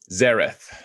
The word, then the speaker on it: Xaereth: Xaereth. Xaereth. Okay. X's are always pronounced with a Z.